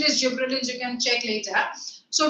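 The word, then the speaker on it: gibberellins: Gibbrilin Gibbrilin the pronunciation is gibberins. So when we are talking about gibbrilins the pron the pronunciation is gibberillins.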